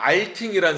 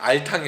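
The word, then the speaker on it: Alting: 근데 이 종교개혁자 중에도 여러분들 아실 수도 있고 모르실 수도 있는데 발음을 잘해야 됩니다. 알팅이라는 사람이 있어요. 알탕이 아니라 알팅이라는 사람이 있는데 아버지 알팅은 아주 훌륭한 개혁주의자예요.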